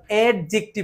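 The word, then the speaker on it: adjective: তাহলে অ্যাডজেক্টিভ, adjacent, adjacent, adjoining, এই ডিটা silent হয়ে যাবে।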